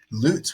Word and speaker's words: Lutz: Lutz would be the technical pronunciation if we're going from Germany.